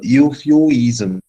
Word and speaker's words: euphuism: that it is called youfu is sim right it is exactly pronounced as uh you few easem right your few ease